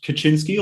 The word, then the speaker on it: Kaczynski: ted kaczynski is it do people pronounce it the polish like kaczynski or do most people call him kaczynski uh well they're his american i imagine that mostly probably kaczynski then yeah all right